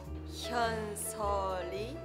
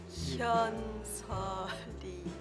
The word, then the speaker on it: Hyeonseo Lee: Can you teach me to pronounce it right? Hyeonseo Lee. Hyeonseo Lee.